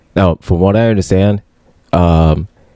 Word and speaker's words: Vivek: now from what I understand, Vivek, his name is not pronounced Vivek, it's pronounced Vivek. Like it rhymes with snake.